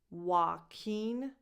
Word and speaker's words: Joaquin: This is how he pronounces his own name. Joaquin Phoenix.